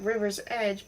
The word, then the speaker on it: Riversedge: Poor Miss Riversedge, which is spelled like River's Edge, but pronounced Riversedge, suffocated whilst wearing a homemade mud pack I prepared, said Lady Constance.